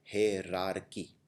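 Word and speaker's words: hierarchy: कर देंगे, लेकिन ये याद रखना है इसको प्रोनाउंस किया जाता है हेरारकी।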